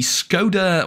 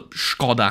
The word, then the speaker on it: Škoda: Because I'll tell you what's not fun, by the time I quit, the Skoda, or the Škoda, however you want to pronounce it, T56 was one